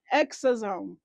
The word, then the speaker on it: exosome: I literally had to pause and like look up how to pronounce this word. It's exosome.